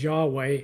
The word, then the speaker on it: Yahweh: actually the Holy Name Of God which we pronounce as Yahweh and I'd like to talk about that a